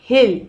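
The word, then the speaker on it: he'll: यहाँ पे will, he, hill, इसका हम प्रोनाउंस करते हैं hill not come, hill not come. he will नहीं बोलते, हम बोलते हैं hill not come.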